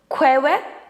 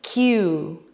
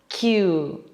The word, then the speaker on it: queue: people say something like queue, but what they should say is Q. Q. This word is in fact very easy to remember because we just have to pronounce its first letter.